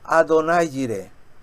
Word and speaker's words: Adonai Jireh: Yahvé Jireh o Adonai Jireh, que sería la forma de pronunciarlo, porque ellos no pueden pronunciar la palabra Jehová por respeto a Dios.